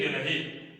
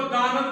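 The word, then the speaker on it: the: अब देखिए आनंद भवन, अब इसका उच्चारण क्या होगा, दी आनंद भवन। अब इसको दानंद भवन नहीं कहेंगे, इसको कहेंगे दी आनंद भवन। ध्यान दीजिएगा।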